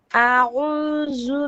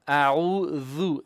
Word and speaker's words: أعوذ: أعوذ بالله من الشيطان الرجيم. No, أعوذ ذال. This, that, thus, thu. This, that, thus, thu. That, this, that, zu. No, Zu. you're not saying that. You're saying that.